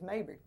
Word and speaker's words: Mabry: Yeah, I'm glad you caught it too, because I'd said it wrong. It was Mabry.